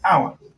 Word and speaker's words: hour: The first letter is silent in the pronunciation. The first letter is silent. So when you're pronouncing hour, you say hour.